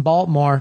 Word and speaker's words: Baltimore: In Baltimore. Don't pronounce the T.